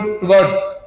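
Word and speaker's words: त्वत्: पर थोड़ा सा उच्चारण त्वत जो है ना तद तो द हलंत है हलंत मतलब उसका उच्चारण पूरा नहीं होता। एक तो द बोलते हैं और एक द एकदम हल्का सा बोलते हैं।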